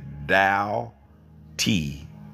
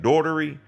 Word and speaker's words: Doughty: If you ever wanted to know how to pronounce that last name, my family pronounces it Doughty, like bow, T, how, T. It's Doughty. I have been called Daughtery, Daughtry, Daughtry.